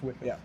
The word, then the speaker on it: Wickoff: just how it's I've been corrected on Wicker or Woff, but I'm pretty sure it's Wickoff.